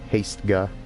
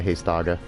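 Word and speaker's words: Hastega: even though I know it's not odd its haste guy but I've always pronounced that haste auger and then that should be the end of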